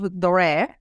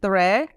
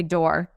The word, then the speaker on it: Doré: I think the funniest one is that people just say door.